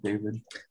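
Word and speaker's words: Dafydd: Is that how you say it, David? Yeah. So it's the Welsh spelling of David. So it's actually phonetic.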